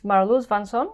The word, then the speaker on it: Marloes van Son: are you I'm good your name is marlus vanson I pronounce it okay yeah yeah that's correct and uh you come